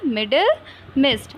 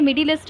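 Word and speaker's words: Middlemist: Okay okay okay, confuse मत हो जाइएगा, जो इसका प्रोनाउंसिएशन है वो क्या है, मिडिल मिस्ट। ओके, तो आंसर क्या हो जाएगा, मिडिल मिस्ट। आई थिंक मैंने मिडिलिस्ट बोल दिया कहीं, बट वो नहीं है ना, क्या है, मिडिल मिस्ट।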